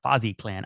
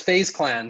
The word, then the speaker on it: FaZe Clan: Am I even saying it correctly? It's FaZe Clan.